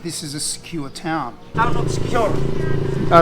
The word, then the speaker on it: Siquijor: Well, having been here for 2 days, I've realised that secure is pretty much the way people on the island pronounce Siquijor. Secure.